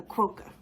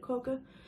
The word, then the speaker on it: quokka: one animal from Australia a quokka that's how you say it coca but they're just so